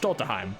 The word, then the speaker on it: Schtolteheim: you pronounce my name my name is pronounced stolteheim i do not care